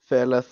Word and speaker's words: Feleth: I play in a death metal band called Feleth. It's Is that how you pronounce it, Thela? Feleth. That's how we say it.